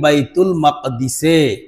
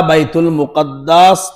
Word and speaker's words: বাইতুল মাকদিস: যে মাকদিস আবার কোনটা এই শব্দটা বাইতুল মুকাদ্দাস তো আমাদের বাংলার তরজমা করি কিতাবে এটার সঠিক উচ্চারণ হলো বাইতুল মাকদিস সকল আম্বিয়া কেরামকে আল্লাহ